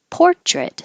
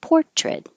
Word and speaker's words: portrait: Portrait, the noun has stress on the first syllable. Portrait.